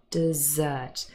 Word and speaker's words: dessert: end of your meal dessert and you can remember this because the dessert has the stress on the last syllable because it is the last meal now desert has the